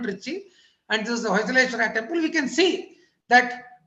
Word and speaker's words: Hoysaleshwara: So this is the Hoysaleshwara temple, which is usually mispronounced as Bhojeshwara temple in Samayapuram of Trichinapalli. It's Samayapuram. The Vikramapura Kannanur is an hamlet of Trichy in the modern Trichy, and this is the Hoysaleshwara temple.